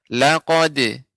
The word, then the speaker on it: لقد: Bapak, Pak Rashid, untuk laqad itu dal ini tidak tebal, ya, maka pengucapannya laqad, laqad khalaqnal. Ketika qaf baru tebal.